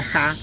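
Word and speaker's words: Jah: topar con esta palabra jota mayúscula a mayúscula y h que posiblemente se pronuncia ja o ya es una contracción del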